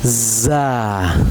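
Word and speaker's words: ز: Okay, it is also za z z sound, like zoo.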